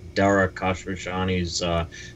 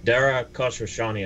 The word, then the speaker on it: Dara Khosrowshahi: They've advertised extensively as well under the leadership of Travis Kalanick, Dara Khosrowshahi's predecessor.